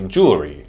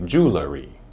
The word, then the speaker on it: jewelry: it it's jewelry jewelry some people will say jewelry as a colloquial way to say the word other people might say jewelry which is wrong because there is no vowel between the L and the r sound let's say it correctly